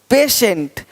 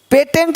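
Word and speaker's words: patient: देखो पेशेंट, पेटेंट नहीं पेशेंट, पेटेंट पेशेंट, पेटेंट पेशेंट, तो श पेशेंट।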